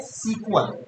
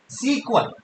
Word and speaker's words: SQL: एसक्यूएल को क्या पढ़ा जाता है, सीक्वल। कैसे पढ़ोगे, कैसे प्रोनाउंस करोगे, सीक्वल। एसक्यूएल को कैसे पढ़ते हैं, सीक्वल।